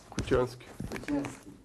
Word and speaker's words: Kutianski: Como pronuncia o seu nome? Kutiansky.